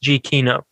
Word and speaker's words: Giacchino: I heard that little score that Michael I think it's pronounced Giacchino.